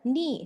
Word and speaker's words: knee: Knee, silent K.